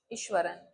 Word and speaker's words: Iswaran: उसी तरह से इसको भी हम क्या प्रोनाउंस करेंगे? ईश्वरन।